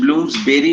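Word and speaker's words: Bloomsbury: इसका pronunciation ब्लूम्सबेरी होता है, बेरी, बरी नहीं होता।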